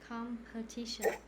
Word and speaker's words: competition: this word again competition did you stress on the first on the second syllable i think the third one compare a couple teaching competition competition competition one more thing